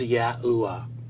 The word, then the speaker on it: Yahuwah: documents and scholarship is the Tetragrammaton was articulated as Yahuwah. What we find is the first two letters of the divine name Yod and He are always sounded out as Yah throughout our first